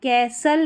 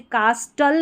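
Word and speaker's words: castle: Through the ओल्ड, इसको कैसल या कासल दोनों तरीके से आप प्रोनाउंस कर सकते हैं, कैसल या कासल। तो यहाँ पर जो STLE जब भी साथ में रहता है, STLE, तो यहाँ पर T जो है वो साइलेंट रहता है, जैसे कास्टल नहीं पढ़ेंगे, ठीक है, इसको कासल पढ़ेंगे, या कैस्टल नहीं पढ़ेंगे, कैसल पढ़ेंगे, ठीक है।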